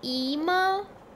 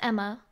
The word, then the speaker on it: Ema: they always call me email hey excuse me is your name really emo that's funny you pronounced it Emma I just spell it differently oh wait for me